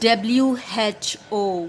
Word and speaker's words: who: word now, that is WHO. What is WHO? Who. Okay, you pronounce as who. Now you might get confused here, like why WH is not making the sound as W.